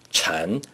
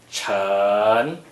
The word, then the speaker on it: 晨: 晨 is the second tone. Please pronounce it after me. 晨晨晨 Therefore, 凌晨 literally means approach morning, the time approaching morning.